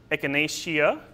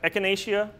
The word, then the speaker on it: echinacea: If the last syllable consists of two vowels or seems naturally short, you stress the third to last syllable. So here we have echinacea, from the Greek meaning